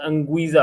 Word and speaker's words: Anguissa: I think if Insigne is missing and they're missing their midfielder, I always Anguissa, I think, right? That's how you pronounce his name. Zambo Anguissa, yeah, correct.